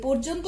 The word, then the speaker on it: পর্যন্ত: এই পর্যন্ত শব্দটার উচ্চারণ ওকারের মতো দিয়ে আমরা লিখব, প ওকার প র পর যন্ত যৌকার য অর্থাৎ বর্গীয় যৌকার দন্তন্য যন্ত ওকার পর্যন্ত।